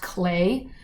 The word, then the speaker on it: Klee: a famous artist, and his name is spelled Klee, but from everything I see online and have read, it's pronounced Clay.